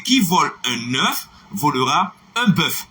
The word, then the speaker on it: qui vole un œuf volera un bœuf: Non, ne le répétez pas parce que ce n'est pas la bonne prononciation, ce n'est pas la bonne phonétique. C'est qui vole un œuf volera un bœuf. Est-ce que nous là?